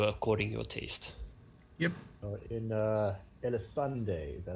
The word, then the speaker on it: Dyrecinder: In Dyrecinder, is that how it's pronounced?